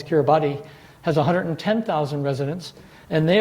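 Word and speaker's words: Kiribati: of New Zealand and pure bas or or the way it's spelled is cure body has 110,000 residents and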